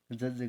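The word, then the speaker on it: judge: जज करना, निर्णय करना, तय करना। ठीक है, यहाँ पर JUDG है तो डी यहाँ पर साइलेंट रहेगा।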